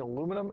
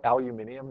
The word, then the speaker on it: aluminium: What's the distribution of charge on a hanging aluminum and glass rod? Here's the aluminum rod. Actually, don't they call it aluminium now?